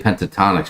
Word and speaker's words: Pentatonix: to say Pentatonix properly just get the penta and the tonics but it does sound a lot like gin and tonic so if you're at the bar watch out how you say it or you might get the wrong drink um Sue O'Connor Sue